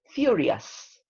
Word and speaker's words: furious: Yeah, the pronunciation of that is furious. Furious. Okay, this ending O-U-S is always us in the pronunciation.